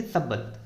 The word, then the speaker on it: subtle: तो इनका सबल मतलब होता है, यहाँ पे देखो टी है ना, ये साइलेंट है, ध्यान रखना। इसको कैसे प्रोनाउंसिएट करेंगे? सबल, SUBTLE लिखा था, लेकिन टी को प्रोनाउंसिएट नहीं करते।